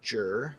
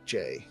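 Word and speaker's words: Jué: that dragon's name is, because everybody pronounces it differently. Jue Um, is what I hear it in game. I've also heard Jur, and I've also heard Jay.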